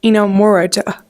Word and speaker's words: Inamorata: I think maybe I'm pronouncing that right. What is it? Inamorata. I think that's true.